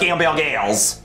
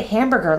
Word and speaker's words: hamburger: Why do you say hamburger like that, sir? I don't know, I just never learned how to say it right. That's how I've always said it. Repeat after me. I would like to buy a hamburger.